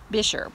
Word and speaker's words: Buescher: at the top because it is not pronounced the way that it looks. It looks more like Boscher or Buescher, but it's Buescher.